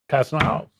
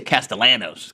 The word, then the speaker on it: Castellanos: Um I'm going to I'm going to hold Castile. How am I saying it wrong? Cast. They say Castellanos.